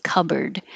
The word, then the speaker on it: cupboard: Although it might have started out as cupboard, we now say cupboard. So you don't think about the P at all, you just close your lips, cup, and then you make the B.